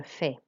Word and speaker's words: fais: So you'll notice that we don't pronounce the S, but we pronounce the last vowel sound, which is an A sound, je fais.